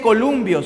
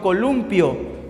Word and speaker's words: columpio: No se dice columbio, sino columpio, función metalingüística.